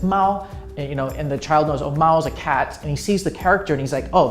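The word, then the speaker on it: 猫: Basically, the child doesn't have to remember that the character is pronounced Mao.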